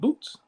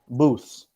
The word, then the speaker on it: Booths: The Feast of Boots. Booths. Oh, go ahead. Kind. Feast of Boots. Yeah. Booths, like a booth, like a phone booth.